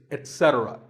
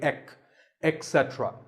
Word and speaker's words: etcetera: number three is etcetera a very common incorrect pronunciation is to say ek etc instead of it don't say that and also remember that the stress is unsaid so the word is etc you will also hear etc that is less common